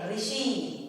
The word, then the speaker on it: ऋषि: से भी पढ़ा होगा, आपने इसको रू भी बोला होगा, लेकिन ऐसा नहीं होता है। जब आप रू बोलोगे तो वो मराठी में हो जाएगा, और अगर री कहेंगे तो वही शुद्ध उच्चारण है। हिंदी में इसे री ही कहना है।